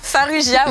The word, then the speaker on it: Farrugia: Ouais, Farrugia, ouais. Parce que c'est comme ça qu'on le prononce.